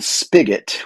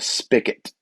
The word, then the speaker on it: spigot: that the the the the spigot which has a g okay in in the South people like to call it a spicet and most people would presume that that's spelled with a CK but it isn't it's SP p i g t spelling B guy